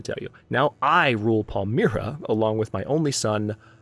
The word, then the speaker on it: Palmyra: all one way or another now I ruled Palmyra Palmyra Palmyra said it wrong the first time try